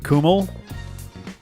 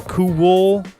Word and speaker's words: Cumhaill: Oh yeah, so MHAI I guess is kind of a W, in all that spelling. So Cumhaill, Samhain. Gets skipped a lot.